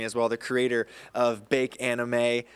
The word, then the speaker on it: Bak Anime: I'm pronouncing it correctly, Bake Anime. Bake Anime. Although the anime community, they pronounce it Bach Anime, like we're from Bakersfield. They're trying to make it sound fancier than it really is.